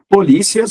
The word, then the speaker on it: polícia: Polícia, substantivo, policia, verbo. que mais? O ditongo cia vira hiato, cia. A sílaba tônica li vai para a sílaba tônica si.